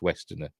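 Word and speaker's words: Westenra: Lucy Wester which is spelled Western R it's pronounced Westerner like mannering is it the word the name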